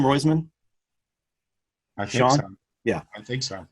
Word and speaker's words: Roizman: owen owen roysman's that he pronounced his name roizman sean yeah i think